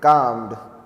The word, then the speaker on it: calmed: it is not caled I know L is there but it is silent how to pronounce it calmed please start writing settled